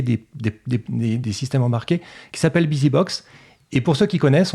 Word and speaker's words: BusyBox: Et la personne dit Biz Inbox. Donc, non, c'est pas ça, c'est BusyBox.